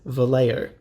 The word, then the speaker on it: Vallejo: is absolutely infallible and turns out the correct pronunciation is Vallejo so that is why I used a very